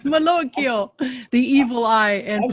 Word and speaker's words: malocchio: to repel against the malocchio how do you say that charles i think you did better than i could do it i've i've heard malloy the maloyks i've heard it said like that malocchio the evil eye and